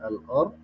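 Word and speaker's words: الأرض: Itu yang beda dengan alif lam qamar, ya al-ard yang di bawahnya ada al-ard, alif lamnya dibaca.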